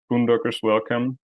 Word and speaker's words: Boondockers Welcome: You founded and ran and eventually sold Boondockers Welcome. Do I pronounce that correctly?